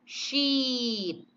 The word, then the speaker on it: sheet: Nah, yang ini I-nya panjang, sheet.